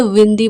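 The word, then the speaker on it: windy: was very विंडी yesterday इसे वाइंड नहीं pronounce करेंगे विंडी बोलेंगे इट वाज वेरी विंडी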